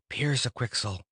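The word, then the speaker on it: Pyrzqxgl: become a big strong bird like a hawk Pierce a quixel he pronounced it the right way so in a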